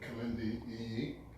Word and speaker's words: Kilindi Iyi: Kilindi Iyi.